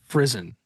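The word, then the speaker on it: frisson: Frisen.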